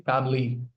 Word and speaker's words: family: And sometimes you also drop the entire syllable. Instead of saying family or family, just say family.